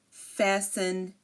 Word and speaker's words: fasten: here now if um if a word ends in s n s t n um for example Christen fasten listen again Christen fasten listen these are you do not hear the T the t is silent here and if a word